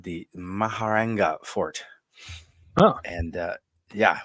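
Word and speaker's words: Mehrangarh: Angel no it's the like I said the maharena fort oh and uh yeah wish I could uh spell it correctly but yeah uh it is I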